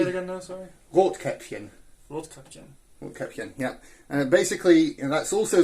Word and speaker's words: Rotkäppchen: Is it Rotkäppchen, that's right, yeah, with the umlaut. That's basically... Say it again now, sorry? Rotkäppchen.